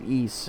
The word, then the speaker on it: Ys: It's spelled wise. Just pluralize the letter Y. But it's pronounced East.